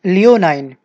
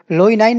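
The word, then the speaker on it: leonine: इंसान होता है आपका लियोनाइन, लोइनाइन नहीं होगा। देखिए यहाँ पे ना आपसे स्पेलिंग पूछ लेता है एग्जाम में, तो हमको लगता है कि लॉयनाइन हो सकता है LIO, लेकिन वास्तव में लियोनाइन।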